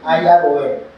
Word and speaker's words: iron: from the iron okay IRON we call it iron R is silent now do you need to touch the magnet with the iron No.